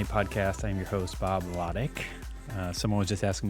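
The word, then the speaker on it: Lotich: say it a lot ltic it sounds like you spell it phonetically it's l A- TI c k I guess so it's not loti it's not l or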